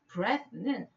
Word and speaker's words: breath: 발음 기호를 보면 숨이라고 명사를 말할 때는 breath라고 말하고 breathe라는 동사, 숨쉬다라고 할 때는 이도 붙이고 발음도 i로 바뀌어서 breathe 이렇게 바뀌어요. 그러면 숨이라고 말할 때는 breath, 숨을 쉬다라고 할 때는 breathe 이렇게 바뀌는 거죠.